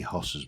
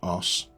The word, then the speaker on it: Hoss: We're going to go and see Hoss's base, because Hoss, or as we call it in Yorkshire where I come from, an Oss. We don't pronounce the H. H's are for posh people.